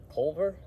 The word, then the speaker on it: Culver: Culver? Yeah, like the Culver's restaurant.